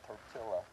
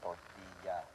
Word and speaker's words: tortilla: Double L. That's like a Y. So the word it's not tortilla, it's tortilla. Tortilla.